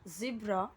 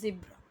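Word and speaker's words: zebra: Second rule is cross a road only at अ जिब्रा crossing, बहुत सारे लोग इसे जेब्रा बोलेंगे, ठीक है, कोई बात नहीं, बस जिब्रा, ठीक है, करेक्ट प्रोनाउंसिएशन इज जिब्रा।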